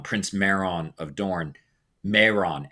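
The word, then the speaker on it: Mairon: Uh Meron, Prince Meron of Dorne, Meron, M A I R O N, was Sauron's name when he was a Maya.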